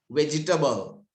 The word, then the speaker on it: vegetable: TATBLE, vegetable. Baba, may E තියෙනව නේද? ලියන්න එපා ගුවනි විශ්මි. ආගන්න. මේ E තියෙනව නේද? මේ E sound එන්නේ නැහැ ළමයි. That's vegetable. How do you say?